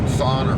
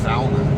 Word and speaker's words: sauna: It actually goes sauna. Sauna. I've said sauna for like years, but it's sauna. And the Finns finish now how it's pronounced. Considering that's where it came from.